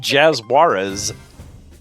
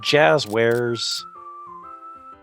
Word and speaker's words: Jazwares: I think that's Jazwares, but good old Jazuarez. You could say it Spanish if you want. No, that would be Yazuarez. I just said it wrong. Good old Jazwares. Um, man, if they wanted it read that way, they should have put two Z's in it.